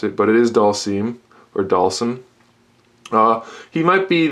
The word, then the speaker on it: Dhalsim: Then we have Dhalsim, or as my friend likes to say, Dhalsim, because he doesn't know how to pronounce it, but it is Dhalsim, or Dhalsim.